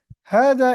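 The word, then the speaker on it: هذا: जाता है ऐसे ही ह जबर इस कहते है हाज इज प्रोनाउंसड एज हाज बट इट is return without the first अलिफ हा हा के बाद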